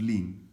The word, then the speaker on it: ln: simply saying that lean ln which is pronounced as lin is used to represent